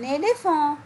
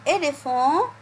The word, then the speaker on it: éléphant: Par exemple, un éléphant. Un éléphant. On a dit avant cela, la lettre P à côté de la lettre H se prononce F. Donc, dans le mot un éléphant, j'entends le son F.